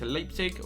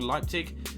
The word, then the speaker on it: Leipzig: suggestion for us went elliptic or Leipzig as it's pronounced ham chick went to